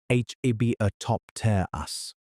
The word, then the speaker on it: Hibbertopterus: And in the water, Hibbertopterus, pronounced h e b a top ter us, a sea scorpion, technically